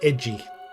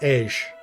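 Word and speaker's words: Edge: So that's why in the Japanese they pronounce it edgy. But for the Panzerese language, at the very beginning of the game, it's pronounced Ej, which I actually like.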